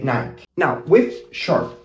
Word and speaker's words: Nike: There's some we pronounce it this way because sometimes in English the E sound is not pronounced, basically when it's the last letter in a word.